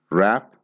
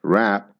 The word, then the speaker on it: wrap: need to be one rap and rap are pronounced in exactly the same way the W is silent now the past tense